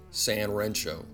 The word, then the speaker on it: 3Rensho: read three rancho but the number three is pronounced san in japanese so the brand name is usually pronounced san rancho by 1973 mr kono